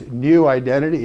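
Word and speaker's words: Neu Identity: It's New Identity. It's spelled N-E-U, like neuroscience, neuroplasticity, neurodiversity.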